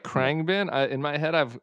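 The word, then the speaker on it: Khruangbin: n g b i n is that right krang bin i in my head i've i've also i've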